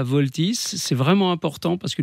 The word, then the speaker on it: Vaultys: Alors voilà, pour résoudre ce problème de piratage finalement, Voltys, ça s'écrit VAULTYS, je l'épelle parce que c'est important.